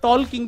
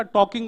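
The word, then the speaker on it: talking: फिर वॉकिंग भी करेंगे और टॉलकिंग भी करेंगे। इन्होंने मुझे तुरंत समझाया। बोले टॉल्किंग नहीं होता टॉकिंग होता है। साइलेंट होता है।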